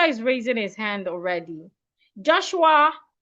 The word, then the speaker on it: Joshua: Joshua, I hope you do not pronounce your name as Joshua. It's O. Joshua. The letter O in your name sounds O as in orange. Joshua.